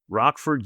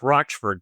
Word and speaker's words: Rochford: Yes, it's pronounced Roxford. But yeah, then that's why my nickname is Rocky because no one knows how to pronounce my last name.